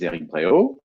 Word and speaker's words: Eric Bréhault: My name is Eric Bréhault, and it was perfectly pronounced by Tudor.